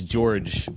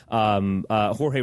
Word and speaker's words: Jorge: I actually met Jorge Please pronounce his name correctly. I met, it's funny, I guess it's George Ramos, but Jorge Ramos.